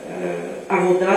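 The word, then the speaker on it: עבודה: et le travail avuda sauf que c'est prononcé en en hébreu OV c'est euh Avoda c'est le travail donc quand c'est dit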